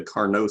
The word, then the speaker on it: Carnot: with something called the Carnot cycle, named after presumably a French guy, because usually you pronounce the T at the end of a word, unless they're French.